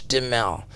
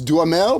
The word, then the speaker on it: Duhamel: Well, if you're in France, I think it's Duhamel, but we've always said Duhamel. Duhamel.